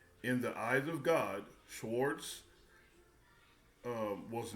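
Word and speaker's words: Schweitzer: Albert Swartz, Sw- Albert Schwartz, I guess that's how it's pronounced, winner of the Nobel Peace Prize in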